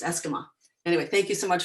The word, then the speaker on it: Esquimaux: want to do is say my name properly for you so you know what it is it's eskimo oh thank you it is it's not a french word it's actually indigenous uh it's probably it